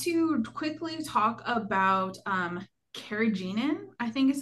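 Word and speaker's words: carrageenan: so I want to quickly talk about um kagenin I think is how you say that but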